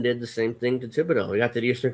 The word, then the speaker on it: Thibodeau: Even though it may have been a shock when originally when the Knicks fired Tom Thibodeau, or how do you pronounce his last name again? Thibodeau.